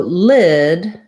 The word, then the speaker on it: lid: that on here too so lid has my vowel that's my lacs high front vowel and lead like a